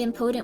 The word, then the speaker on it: impotent: do is I just I don't think I've heard anyone say impotent with stress on anything other than the first syllable I don't know how